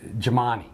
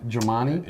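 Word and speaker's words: Gemignani: called Pizza Rock and I know I'm going to say his name wrong but it is uh owned and operated uh by Tony Jamani does that sound right Jamani you're you're pretty close I think you're missing a syllable there maybe you know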